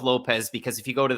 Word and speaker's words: Lopes: And Matt, when I talk about Diego, he pronounced his name on Contender Series, not Caesar salad. He said Diego Lopes, but I'm going to go with Lopez because if you go